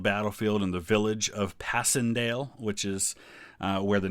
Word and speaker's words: Passchendaele: As with all things, the British like to kind of butcher the names a little bit, but uh we remember it as Passandale.